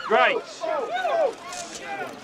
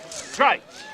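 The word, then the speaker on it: Gritz: Name's Grites. G-R-I-T-Z. Grites. Rhymes with whites.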